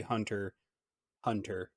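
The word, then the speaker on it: Hunter × Hunter: are we sure because hunter hunter is not hunter x hunter it's actually hunter hunter this the x is silent so i'm wondering if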